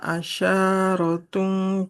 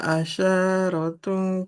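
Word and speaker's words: عَشَرَةٌ: Nah, shinnya nggak boleh panjang. Fathah nggak ada alifnya. Tilka Asyarun. asyaratun kamilah. Boleh diulang, Ibu. Tilka asyaratun kamilah.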